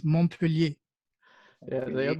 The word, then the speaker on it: Montpellier: It's no, you don't pronounce the T in French. When the Mont, it's Montpellier.